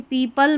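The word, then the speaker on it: people: देखिए पीपल में इ ओ है। इसको बड़ी ई के रूप में पढ़ा जा रहा है। लेपर्ड में अ की ध्वनि दे रहा है।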